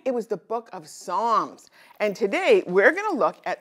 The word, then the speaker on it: Psalms: It's the one with the silent letter that it starts with. Do you remember? Right. It was the book of Psalms.